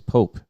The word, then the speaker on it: POAP: And I think what we decided is we're gonna call it whatever the hell we want, and it's Pope because it's one syllable.